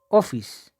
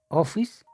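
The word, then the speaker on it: ὄφις: Se pronuncia Ophis. Ophis significa en griego serpiente.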